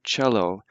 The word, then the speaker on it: Cello: as a hard C but with the word cello taking from the Italian it's pronounced softly so mid feel like I listen